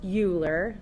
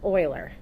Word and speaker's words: Euler: to point out though it's not pronounced Euler like Ferris Bueller it's pronounced Euler okay so whenever I